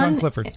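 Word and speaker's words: Sian Clifford: Sean Clifford? That's not how you say that. S-I-A-N. How do you say that? Yeah, Sean. Lovely Irish. It is Sean? Sean Clifford. Yep.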